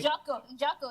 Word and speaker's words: Jotko: So Christoph Jotko. Did I say it right? Jocko, yeah. Jocko.